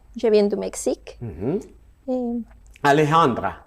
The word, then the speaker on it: Alejandra: Alejandra. Oui. C'est bien comme ça que ça se prononce? Parfait.